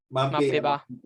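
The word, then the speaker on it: Mbappé: Mape. I mean, I pronounce it like that. Mbappe.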